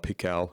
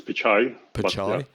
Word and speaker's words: Pichai: ceo of google being sundar pikal if that's how you pronounce it i'm not too sure but i think it's pichai did what sort of evidence